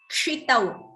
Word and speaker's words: क्षितौ: The first word pronunciation, someone has a doubt, it is kshitau, ksha, like kshama, kshiti, shaha, that's how it's pronounced, kshi, ka and sha. So ka and sha combined together give us this, this is a samyuktaksharam, a conjunct consonant, kshi.